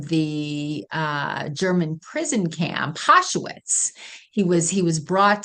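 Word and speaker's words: Auschwitz: think this that's how it's spelled but it's pronounced aitz thank you and because he was a a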